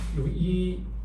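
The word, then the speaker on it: 唯円: 한자로는 오직 유자고 오직 유자를 유이라고 읽습니다. 유이엔은 이렇게 써요.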